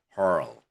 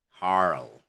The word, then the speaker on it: hurl: Okay, hurl, harl.